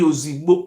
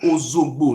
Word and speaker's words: Ozogbo: Not be Ozigbo, Ozogbo. Now be the real pronunciation.